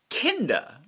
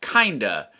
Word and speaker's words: Kinda: to well will that be any different with kinder which i have inaccurately pronounced as kinda uh on camera previously in my defense like